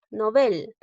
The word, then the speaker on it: Nobel: se deben tildar nobel nobel es una palabra aguda termina en la letra l no la tildó porque